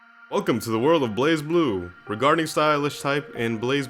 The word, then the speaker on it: BlazBlue: Oh, it's actually pronounced Blaze Blue.